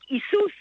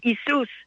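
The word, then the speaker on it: Ἰησοῦς: Even when they simply use the Yeshua, Yeshua, use the Greek Isus. That's how the Greeks would pronounce Jesus' name. Isus Yeshua is is the is the Yiddisher word for Jesus.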